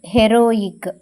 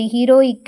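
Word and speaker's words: heroic: Next ஹெச்இ, ஹீ இல்லை இங்கே ஏ, ரோ இக், ஹெரோயிக். இது ஹீரோயிக் இல்லை ஹெரோயிக். இங்கே ஈ வந்து ஏவா ப்ரொனவுன்ஸ் பண்ணுறோம்.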